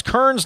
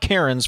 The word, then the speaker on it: Kearns: What is the proper pronunciation of Kearns? Brad got it right. It's Kearns, not Cairns, from a former Randolph Countyan, says the texter.